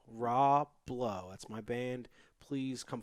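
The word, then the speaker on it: Rah Blow: I'm also, promoting some bands, and the only one I want to bring up is spelled R-A-H and then the word blow, R-A-H blow. Raw Blow.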